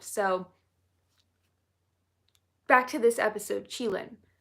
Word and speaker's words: Qilin: I pronounced it as Keelan in the video because that's what Google said it was pronounced as. But one of you guys corrected me and said it's Qilin, so I'm gonna pronounce it properly moving forward.